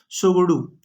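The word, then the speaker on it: Tshogdu: संसद का नाम सोगोडू, साइलेंट रहता है, सोगोडू, ठीक है, सोगोडू भूटान का संसद, ठीक है।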